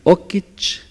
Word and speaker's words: okich: Se utiliza la raíz okichtli, desaparece la TL, que designa a macho, entonces solo vamos a tener okich, se pronuncia okich para macho, y siwa, siwa para hembra, que deriva de la raíz siwatl, mujer.